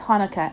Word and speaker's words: Hanukkah: say it with me actually both Hanukkah and chanukkah are right the holiday's name is Hebrew so there are different ways to spell it and say it in English thanks applesauce says Lucy